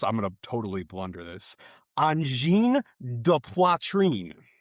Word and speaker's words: Angine de Poitrine: In English, it looks like Angine de Poitrine, but it's pronounced. I'm gonna totally blunder this. Angine de Poitrine.